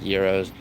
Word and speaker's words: gyros: Euros I know they're actually pronounced Euros uh sh you know